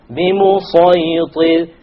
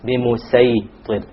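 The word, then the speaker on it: بمصيطر: بِمُصَيْطِرٍ. And the sin is allowed but it is not preferred. بِمُسَيْطِرٍ. Okay? But the Sad is what has been given preference.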